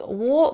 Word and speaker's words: war: When the war has, вот war, война, там как раз R не будет произноситься, потому что после этого идет согласный звук H, да? War has, но war сделайте вот таким глубоким, и это не will, а war все-таки, действительно O.